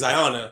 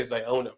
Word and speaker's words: Ziona: It's Ziona, but I like to say Ziona for some reason. It just sounds like the O emphasis on the O.